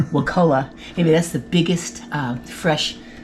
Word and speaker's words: Wakulla: I got to get the Florida pronunciation. We've been corrected on that many times. Wakulla.